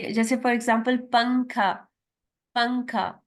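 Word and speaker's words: پنکھا: पंखा, अब इसमें नून जो है वो साइलेंट है, इजंट इट.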